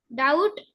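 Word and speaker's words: doubt: ओ यू बी टी डाउट शंका बघा डाउट डाउट हा शब्द बऱ्याच मुलांचा चुकतो स्पेलिंग आहे डी ओ यू बी टी डाउट या शब्दात बी हे लेटर सायलेंट लेटर आहे नेक्स्ट डी यू एम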